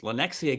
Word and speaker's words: Lenexa: But he's actually from is it I can't even pronounce this. Lenexa, Kansas. I think I got Lenexa, that. Kansas. Lenexa, Yep, Kansas.